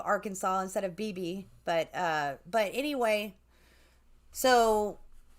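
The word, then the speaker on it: Beebe: an episode about about our blackbird incident from bibi um and they actually which is crazy because they actually pronounce it uh bieb arkansas instead of bb but uh but anyway so basically they told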